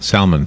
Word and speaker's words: salmon: number four eat salmon am I saying it right salmon yes s-a-l-m-o-n yeah I always feel like I'm supposed to say that L salmon no it's if that's if it's salmonella salmon is yeah is